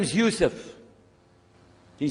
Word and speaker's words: Yusuf: la my name is Yousef can you say Yousef who you say Yousef you're very good I wish You' teach my wife she keeps mispronouncing it she calls me useless hamdulillah now how many of you were in